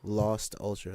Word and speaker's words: Lost Ultra: Lost Ultra, like literally how it is, like lost, like you lost Lost something in Ultra.